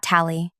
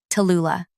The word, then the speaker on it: Tula: Not Tally, not Lou, Tula. The full three syllables demand attention, much like I do.